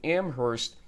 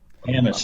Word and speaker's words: Amherst: Amherst. My bad. I think you pronounce the H.